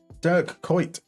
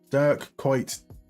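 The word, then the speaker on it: Dirk Kuyt: Durk quite. Durk quite got to be careful with the pronunciation of his name. Um he is most definitely Dutch.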